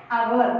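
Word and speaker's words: hour: with the overall here we are not pronouncing h children here h is the silent letter only we are saying that our means here we are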